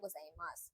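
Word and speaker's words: ございます: Mass இது மாஸ்ன்னு தான் pronounce ஆகும். யூ வந்து சேர்த்து ப்ரொனவுன்ஸ் பண்ண கூடாது.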